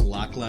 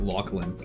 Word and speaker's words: Lachlan: He says it's not pronounced Lachlan, it's pronounced Lachlan.